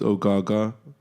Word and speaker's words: Ogaga: My name's Ogaga, which, as simple as it is, it's 2 syllables. It's 3 syllables, but 2 Ogaga. of them are the same.